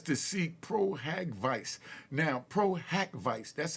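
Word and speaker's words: pro hac vice: that Busby has to seek proag Vice now Pro hack Vice that's how it's pronounced PRACK Vice p r o- haav Dash uh VI but we you know the court system we just call it pro Havoc now I'm G break down what Pro havoc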